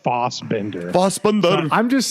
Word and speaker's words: Fassbender: And I believe it's pronounced like Fossbender.